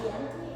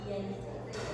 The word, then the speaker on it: diente: So where you might think it's diente, it's actually diente.